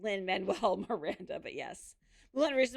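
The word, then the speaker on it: Lin-Manuel Miranda: Wow, I really butchered her. It's okay. It's Lyn Manuel Miranda.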